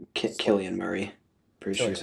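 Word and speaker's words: Cillian: Uh Selian Murphy was really good in Oenheimer and I really like Sillian Murphy. So I just Killian Murray, pretty sure is how you pronounce it.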